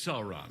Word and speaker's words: Sauron: so wherever you pronounce it how do you pronounce it it's sauron so sorry oh sorry no sorry i'm sorry